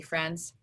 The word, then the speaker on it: friend: The tricky part comes here in the middle because we can't really hear the I. We hear fur and we hear end, but we don't hear the I.